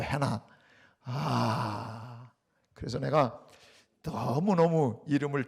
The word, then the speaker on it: Hannah: 난 글쎄 해나가 도대체 왜 해나라고 붙였나 몰랐더니 한나의 영어식 발음이 해나예요. 해나.